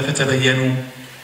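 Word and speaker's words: فتبينوا: It is written the same way. But it is just a matter of the dots. That the pronunciation will be different. And both recitations are accepted.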